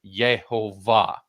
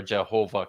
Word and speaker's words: Jehovah: So it ended up sounding like YeHoWaH, which is where Jehovah comes from, but it's really just a Yeah, Germanized version of pronunciation.